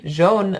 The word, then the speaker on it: jaune: c'est assez facile mais beaucoup de vous vous prononcez ça d'une manière dingue hein donc souvenez que jaune ça c'est clair mais ou ailleurs jeune société du royaume jaune ya des jeunes ya donc attention à ça les mercis